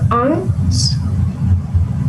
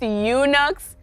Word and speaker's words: eunuchs: haman to the banquet one of the king's aunts say that again one of the kings it's actually pronounced eunuchs but yes that is correct that is correct